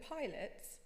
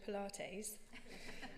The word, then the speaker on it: Pilates: of a joke or mispronouncing words he knew that Pilots was actually Pilates or a family favorite